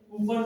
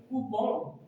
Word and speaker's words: coupon: next teachers हम लोग बचपन से ही कूपन कूपन कूपन बोलते हैं. It is wrong pronunciation. The right pronunciation is coupon.